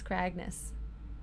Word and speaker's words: Kragnes: good name to kragnes did I say it wrong it's kragnes all right what could